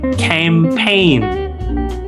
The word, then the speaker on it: campaign: A a campaign campaign. Kalau pelannya seperti itu. Kalau cepatnya campaign campaign ya. Nah, G-nya ini dianggap hilang ya, campaign. Kemudian A-nya diganti menjadi E.